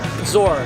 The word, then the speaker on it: Zohr: So anywhere in town, and pronounce the name. Zor, Z-O-H-R.